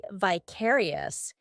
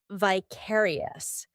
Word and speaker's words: vicarious: Although in American English they're more inclined to say vicarious. In British English it's vicarious.